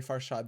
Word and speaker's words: Farshad: more people mispronounced it nowadays people they will say my name correctly they'll say far shot they're like farshad they're